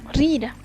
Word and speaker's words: rira: sílaba, tendríamos la palabra rira, que significa la sangre, perteneciente al género masculino. Como se pudo percibir, el acento está sobre una sola sílaba, que en este caso sería ri.